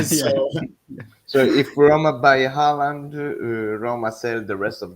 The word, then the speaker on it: Haaland: Yeah, in Norwegian it would be Haaland.